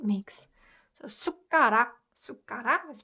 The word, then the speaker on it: 숟가락: So it has that ut sound, and when ut sound is combined with ku, it just naturally puts more emphasis on ku sound, and it gets pronounced 그.